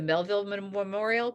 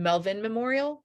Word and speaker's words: Melvin Memorial: I keep wanting to call it the Melville Memorial, but I think it's not. The Melvin Memorial.